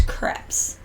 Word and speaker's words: crepes: how they say it it rhymes with like step so it's crepes so you know but